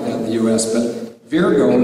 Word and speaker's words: Virgo: There are people in certain cities and pockets that talk like that in the U.S., but Virgo is the proper pronunciation.